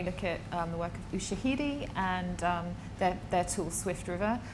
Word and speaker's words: Ushahidi: I think anyone interested in this area as well should probably look at the work of Ushahidi and their tool Swift River, which is trying